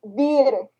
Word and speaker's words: Wir: And besides, it's the V's are the W's are pronounced like V's in German, so it's Wir sind in Wir sind die Jäger.